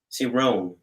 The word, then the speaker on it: Cirrone: But you guys say Cirrone, right? Cirrone. Well, I say, Cirrone myself. You're right. You Very good pronunciation.